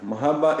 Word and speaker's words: Mahabharata: Yeah, Mahabharata, in fact, you are right. Bhagavad Gita is a part of Mahabharata, which has got 100,000 verses actually, Mahabharata.